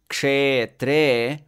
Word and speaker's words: kshetre: So we know that in Sanskrit, the vowel e is always long. And so both the syllables in the word kshetre are naturally long.